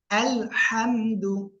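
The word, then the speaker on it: الحمد: আবার ইয়ে করে নিতাম দেখেন আলহামদু আলহামদু গলাটা চেপে গলা হাত আলহামদু আলহামদু আলহামদু আচ্ছা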